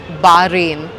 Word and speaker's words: Bahrain: I pronounce it as 'Be-ha-rin'. Many people will likely pronounce it that way. But, now I realized that it's actually 'Bah-Rayn' Anyways, so welcome to Bahrain.